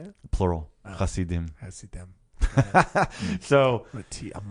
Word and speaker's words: Hasidim: plural, Hasidim.